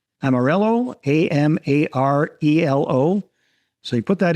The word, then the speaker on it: Amarelo: So if you're listening to this, you guys, is spelled a little bit differently. Amarelo, Amarelo.